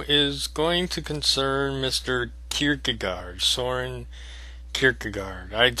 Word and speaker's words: Kierkegaard: okay this video is going to concern mr kierkegaard soarin kierkegaard i'd spell it for you but i don't remember there's two a's and a d hardy at the end of it kikigaar anyway um one of the interesting things about